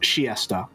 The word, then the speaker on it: Chiester: And also apparently it's pronounced Chiesta.